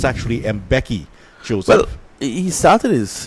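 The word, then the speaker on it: Mbeki: he gets his first name I know it's mispronounced a lot here locally played the mvk and some other different but it's actually M Becky Joseph well he started his his his training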